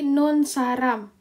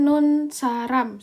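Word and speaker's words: 눈사람: Jadi nun saram. Nah, kalau kita bacakan nun saram seharusnya. Tapi karena dia adalah bagian dari ini nalamanga, maka bacanya itu jadinya ini di double. Jadi nun saram.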